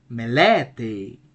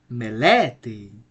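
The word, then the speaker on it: μελέτη: Me, le, te. Since we have an acute accent over the middle syllable, this is the accented syllable. The right pronunciation of this word would be then melete, melete.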